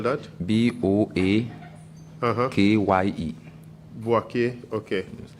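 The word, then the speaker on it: Boakye: How do you spell that? B-O-A-K-Y-E. Boake.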